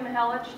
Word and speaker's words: Mahelich: my name is mahelich to make it easy say the hell say the itch and it Rhymes and it works uh in case you